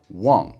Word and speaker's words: 忘: Really common word for this is wang, as in forget in Chinese.